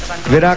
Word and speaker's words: Virac: na na May 14 sa second syllable yung accent pala virac athletic complex sa Catanduanes